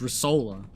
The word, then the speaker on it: Risola: big boom why my my name is not a stereotypical New York word and I don't even say it like with an accent or like with that kind of ax it's just risola which is based not not base off of but sounds like a commercial like Ricola Smorgasbord of New